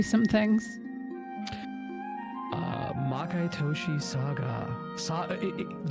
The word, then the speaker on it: SaGa: Makai Toushi SaGa. Did you guys actually know it's pronounced Saga?